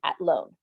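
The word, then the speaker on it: Athlone: definitely recommend going to atlone okay it's spelled like athlon and it is um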